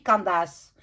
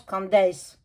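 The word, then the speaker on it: Candace: pas ça se dit Candas non en français ça se dit candis ça n'existe pas en Candas en français c'est en américain en anglais en fait ça se ça ça se prononce candis candis Owens mais moi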